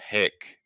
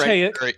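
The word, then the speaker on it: Haeck: about today are James Hick. I apologize if I'm pronouncing that wrong. Wrote It's Hayek. Yep. It's what? Hayek.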